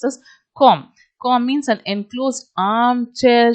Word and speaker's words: cwm: four in the western com cwm should be pronounced as com cor means an enclosed armchair shaped hollow situated